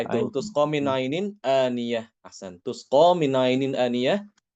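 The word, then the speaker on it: آنية: Kata-kata aniyah ya. Surat Al-Ghasyiyah itu pada ayat berapa tuh? Aniyah. Surat Al-Ghasyiyah. Tusqa min ainin aniyah ya Ustaz ya. Tusqa min Ya, itu ainin. tusqa min ainin aniyah.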